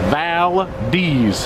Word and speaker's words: Valdez: I asked the proper pronunciation from our resident folks yesterday. They said Valdez.